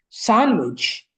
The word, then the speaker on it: sandwich: Oh, so D. It's a D. Yeah. So, it's sandwich.